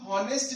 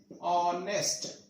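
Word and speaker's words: honest: बट ये wrong है, क्योंकि हम हॉनेस्ट नहीं बोलते, हॉनेस्ट, हॉनेस्ट नहीं बोलते, क्या बोलते हैं? ऑनेस्ट, ये ठीक है, तो ऑनेस्ट बोलते हैं। This is the correct pronunciation.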